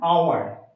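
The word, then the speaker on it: hour: কোনো একটা ওয়ার্ড তার শুরুতে এইচ আছে কিন্তু এইচ লেটারটা সাইলেন্ট আছে, তখন সেক্ষেত্রে আমি কি বসাবো? অ্যান বসাবো। যেমন অ্যান আওয়ার, অ্যান অনেস্ট। দেখো বোঝো, অ্যান আওয়ার, এখানে এইচ আছে, হাওয়ার হলো না, কি হলো?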